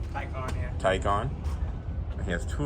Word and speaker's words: Taycan: So how do you pronounce it? Taycan? Taycan, yeah.